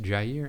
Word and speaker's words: Jair: So I knew that it is pronounced Couisnard, and I knew that Jair was pronounced Jair, and I knew that Kotsar was pronounced Kotsar.